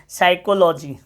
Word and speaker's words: psychology: साइकोलॉजी। P silent है, P silent है, इसको पढ़ना है आपको।